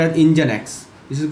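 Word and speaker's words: NGINX: I N X this you know this is pronounced as engine X.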